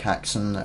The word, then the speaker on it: Hackson: Like Hackson, like Samson.